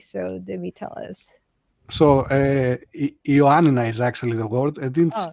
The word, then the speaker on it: Ioannina: Please help me with the pronunciation. Villagers of Ioannina City. So Dimi, tell us. So Ioannina is actually the word, and it's my city.